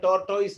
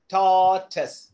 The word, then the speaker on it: tortoise: അത് നമ്മൾ ഉച്ചരിക്കുന്ന ടോർട്ടോയിസ് എന്നാ പറയുന്നത് ഇല്ലേ, അങ്ങനെ പറയരുത്. ടോർട്ടസ്, ടോർ. ഇനി ആറിന്റെ ഒക്കെ ഉച്ചാരണം നിങ്ങൾ ഇച്ചിരി പ്രൊനൗൺസിയേഷൻ ഇതിന്റെ കൂടെ കൊണ്ടുപോകണം.